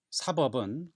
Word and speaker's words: 사법: 한글로 써놓으면 둘 다 사자에 법자 이렇게 쓰지만은 발음이 사법, 법자를 세게 발음하지 않습니다.